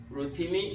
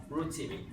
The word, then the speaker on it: Rotimi: If your friends are saying Rotimi, no, that's not the pronunciation. It's Rotimi. Stay with me.